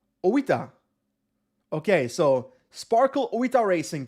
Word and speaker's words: Oita: Robert says, "Actually, Oita is pronounced with a separate O and I." Oita.